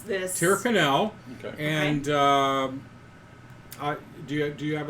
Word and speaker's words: Tyrconnell: Yeah, how do you pronounce this? Tyrconnell.